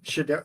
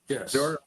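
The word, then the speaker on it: Shedeur: But then we also have Boomer Esiason and about the claims of Shador. Do you pronounce it Shador Sanders? Yes. Shador? Okay. Yes. And then George Kittle, highest paid tight end, new contract.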